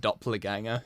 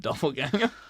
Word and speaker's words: doppelganger: did I really cringe when you said Doppler ganger instead of doppelganger I have it no